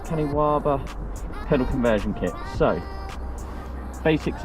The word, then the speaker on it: Kaniwaba: So this is the Kaniwaba, I believe it's pronounced, Kaniwaba pedal conversion kit.